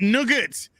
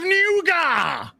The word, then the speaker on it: nougat: actually puts has this in britain we traditionally pronounce it nugget and many people still do however some give it it's correct french pronunciation of nuga what is it with